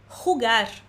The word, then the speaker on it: jugar: Atenção à pronúncia dessa palavra em espanhol. Jugar, jugar.